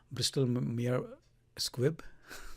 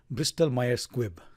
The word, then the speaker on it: Bristol-Myers Squibb: one for today would be another pharmaceutical company Bristol mere squib can't say it correctly let me try bristol-myers Squibb that's the name of the company also known